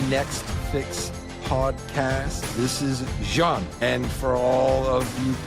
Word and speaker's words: Jeanne: This is Jeanne, and for all of you people in the United States as ignorant as me, it is not Jeanne, it is Jeanne. So, said it wrong once, she corrected me.